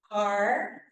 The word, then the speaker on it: Carlyn: of you may not because it's spelled differently than it sounds so I want you to remember my name so this is how you will remember it caring okay I'm really pleased